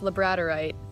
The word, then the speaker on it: labradorite: this labrada right slab and yes it is pronounced labradorite but it's got such unique little details in